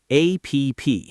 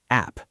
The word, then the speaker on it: app: We say it as one short word, app.